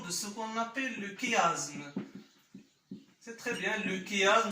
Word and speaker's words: chiasme: Évidemment, il s'écrit sous forme chiasme, mais au niveau de la prononciation, le côté de la phonétique, la phonologie, il se prononce chiasme.